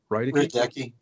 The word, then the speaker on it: Rydecki: How do you pronounce it, Pastor? Rydecki.